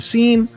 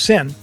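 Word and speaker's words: Seine: sick swimming in the scene it's we say scene but it's actually pronounced sin the the the swimmers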